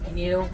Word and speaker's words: gnu: They're also sometimes referred to as gnu. It's spelled GNU, but it's based off of the sound they make.